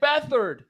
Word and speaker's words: Beathard: CJ Beathard. Yeah. Don't That's pronounce the T and the H apart from one another. Don't pronounce them apart from one another.